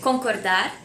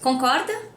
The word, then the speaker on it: concorda: Or just concorda? Agree? And the answer is eu concordo or eu não concordo. Also, the word concorda has the same pronunciation as with rope.